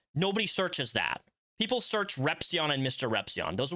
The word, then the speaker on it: Repzion: First of all, I just love it when people say Repzion. Considering how much I say my name online, it's Repzion.